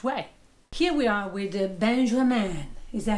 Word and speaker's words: Benjamin: Here we are with Benjamin. Is that how you pronounce your name? Benjamin.